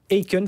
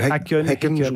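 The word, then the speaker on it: Häcken: contre les Suédois de Aen. Faut dire c'est Henen.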